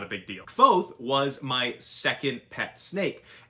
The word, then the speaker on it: Kvothe: main character's name is Kvothe. It's pronounced kind of like Quoth, like Quoth the Raven, but with a V kind of wedged in there.